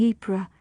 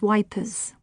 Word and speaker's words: Ypres: Maisie smiled, but it was a sad, reflective smile, as she remembered how men made easy work of pronouncing Ypres, referring to it as Wipers.